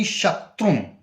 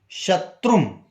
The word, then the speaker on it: Shatrum: Bhasmani Shaktrum. It's Bhasmani Shatrum.